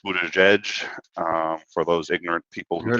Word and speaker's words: Buttigieg: Buttigieg is, it turns out, pronounced Buttigieg.